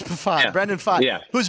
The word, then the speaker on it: Pfaadt: You don't pronounce the P. It's Pfaadt.